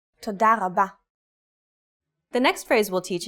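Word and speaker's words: תודה רבה: Altogether, it's Toda rabba.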